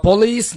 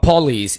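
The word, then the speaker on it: police: deduce नतीजा निकालना द पुलिस ड्यूस about the theft the पुलिस इसको पुलिस नहीं बोलना पलिस deduce about the theft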